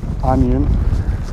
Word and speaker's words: Ajan: the onion i've just been learned how to pronounce it onion onion two that's it there it's first time